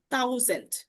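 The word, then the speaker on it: tausend: তো এটার উচ্চারণটা হবে হচ্ছে থাউজেন্ড। থাউজেন্ড ঠিক আছে থাউজেন্ড। থাউজেন্ড আইন থাউজেন্ড। আইন থাউজেন্ড তারপরে সয় থাউজেন্ড ডাই থাউজেন্ড। ত এবং থর সংমিশ্রণে কিন্তু উচ্চারণটা হচ্ছে।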